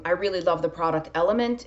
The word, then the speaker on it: LMNT: really love the product element it's lmnt but it's pronounced element there's a link below